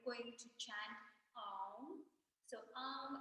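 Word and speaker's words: AUM: to chant um so AR is made up of three syllables A A and M right so it's a u m so starting with h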